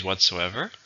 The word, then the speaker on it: whatsoever: How many syllables? Whatsoever. 4. Stress is on the third.